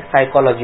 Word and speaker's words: psychology: आप साइकोलॉजी का स्पेलिंग कभी भी SYKOLOGI नहीं लिखेंगे। क्या बोला? SYKOLOGI। इसका उच्चार क्या होता है? साइकोलॉजी होता है कि नहीं होता?